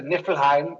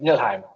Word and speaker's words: Niflheim: right yeah it's easier to say it's a nilheim it's just nilheim so anyways if you it's a it's very